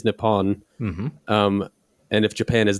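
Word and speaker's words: Nippon: stack exchange that since the pronunciation of the Japanese word in Japan is nepon um and if Japan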